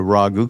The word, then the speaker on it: Raghu: Neem Karoli Baba named me Raghvendra, which came down to Raghu, because nobody could pronounce that at all. Raghu's easy. No, not the Italians' pasta sauce. No, it's a Raghu from India.